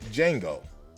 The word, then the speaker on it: Django: And it's just like Django. The D is silent, but she won't be.